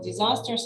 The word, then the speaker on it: disaster: I think you said you were talking about natural disasters, and you say disasters, or how do you pronounce this word? Disasters, right? No. The sound, disaster. Oh, it's a Z sound.